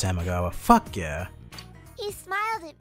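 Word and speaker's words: Samegawa: It is pronounced Samagawa.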